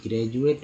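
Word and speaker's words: graduate: जैसे ज का एक एग्जाम्पल ले लेते हैं, ग्रेजुएट, ग्रेजुएट में जी आर ए, देखिए डी यू ए टी, ग्रेजुएट में डी को ज पढ़ा जाता है, तो ये हो गया।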